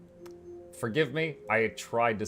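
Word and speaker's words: Tsushima: job on it uh those are all fantastic sushima is how you pronounce it okay Titan Quest Titan Titan Quest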